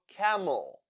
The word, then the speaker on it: camel: The second syllable is unstressed, that is why E sounds like E e e camel.